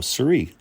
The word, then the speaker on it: Cirie: Cirie.